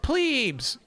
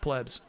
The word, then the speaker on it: plebs: Also, did you notice how he pronounced plebs? Like the proper way? My dumb chat's always like, it's pronounced plebes every single time. It's plebs. Sure, it could be a plebeian thing, but it's pronounced plebs.